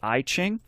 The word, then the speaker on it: I Ching: they recorded their debut album secrets of the I Ching which was well-received by critics and their song